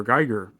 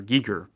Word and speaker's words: Giger: but I'm getting another one soon by HR Gigger or Giger is how it's pronounced, and I will be talking about that one.